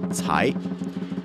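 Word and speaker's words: 财: The Chinese word cai, to pluck, sounds like the word for wealth, also pronounced cai.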